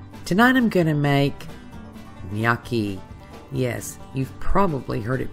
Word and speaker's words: gnocchi: I think that's important so it's nyaki it's not noi it's not noi it's